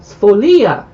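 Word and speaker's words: sfoglia: full here we go here's the pronunciation in the spolia it's folia a sheet of hand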